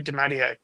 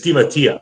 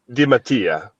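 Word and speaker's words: DeMattia: these players like how did you just pronounce his name? Harry Demanier. Isn't it Dimatia? It's Dimatia. It's It's the token token Italian. As the token Italian here, it's Dimatia.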